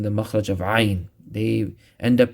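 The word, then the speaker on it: ع: Next, ain. Same place as ha, but pronounce it with a stress by going down deeper into the throat and give a squeeze to your throat.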